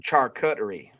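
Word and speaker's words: charcuterie: But it's pronounced char cutery.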